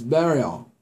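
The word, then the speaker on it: beryl: or like the burial it's b-a-r b-e-r-y-l so it's burial all right but we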